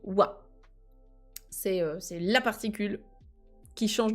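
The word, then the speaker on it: は: Ça s'écrit ha, c'est le hiragana ha, tu as raison, mais il se lit wa.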